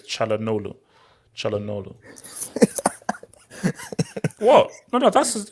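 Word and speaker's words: Çalhanoğlu: So it's Chalanolu. You don't pronounce the G, so it's Chalanolu.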